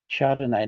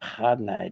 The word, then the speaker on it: Chardonnay: Okay, so it's Riesling, not Riesling, despite what the famous, and it's Chardonnay, not Chardonnay, despite Kath and Kim.